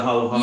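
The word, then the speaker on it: halo-halo: It kind of reminds me a little bit of that, and correct me if I'm wrong in the pronunciation, please. The halo halo? The halo halo.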